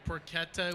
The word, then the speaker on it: porchetta: Porchetta was with a hard C. Yes, porchetta. Like bruschetta. Exactly. And It's like bruschetta, porchetta. Yes. With a K.